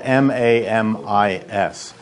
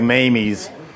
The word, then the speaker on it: Mami's: it's called it's spelled ma M is no so it looks like mamie's gelato but I think he goes mommy's he says Mami's well the the Italian would be mommy's but that tall skinny